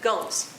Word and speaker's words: Gomes: The next item, Annalicia Gomes, I hope I pronounced that right, Gomes. Gomes. I did ask, and that is the correct pronunciation.